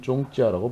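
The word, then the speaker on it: 宗教: 다만 일본에서는 슈쿄라고 발음하고 중국에서는 쫑찌아라고 발음합니다.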